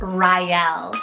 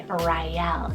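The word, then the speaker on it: Ryelle: Then for another great art option, I have Raelle, spelled R-Y-E-L-L-E, Raelle.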